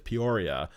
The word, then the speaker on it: Peoria: The city that Linda is from is Peoria, which almost nobody who's read this week has been pronouncing correctly, and somehow I wasn't able to read Mother.